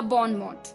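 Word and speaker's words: bon mot: तो बॉनमो अलग अलग 2 वर्ड हैं, BON बॉन, MOT मोट, बॉन मोट या बॉनमो।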